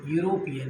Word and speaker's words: European: अब जैसे हम लिखेंगे यूरोपियन, EUROPEAN, यूरोपियन का प्रोनाउंसिएशन य से शुरू हुआ, तो यही कारण है यहाँ पर प्रयोग ए होगा।